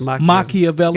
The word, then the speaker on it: Machiavelli: Didn't they pronounce it? It was Machiavelli.